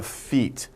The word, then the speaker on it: feat: say it is a feat not your pal right not feet f-e-e-t but feet f-e-a-t pronunciation is the same as feet right but feet means